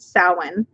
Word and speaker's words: Samhain: Yes, because it's spelled Samhain. It's pronounced Samhain, or something along those lines. There are slightly different pronunciations depending on where you are.